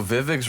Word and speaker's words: Vivek: Yo, Vivek's running for governor. Vivek. Right. That's how his name is pronounced.